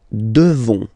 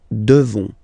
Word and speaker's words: devons: Nous devons, okay, classic ending O-N-S for nous, okay, you just pronounce this on, O-N, this nasal, okay, and then the S, final S is not pronounced. Nous devons, okay, nous devons, well, basically, we must,